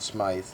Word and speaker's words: Smythe: Smythe, pronounced S-M-I-T-H, is spelled S-M-I-T-H. And to me it's Smith, but they call it Smythe, just like they call Gilbert Gilbert.